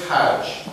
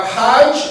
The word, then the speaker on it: Hajj: The J becomes a G. H-A-G instead of H-A-J. Hajj, Arabian Arabic, Hajj, Egyptian Arabic.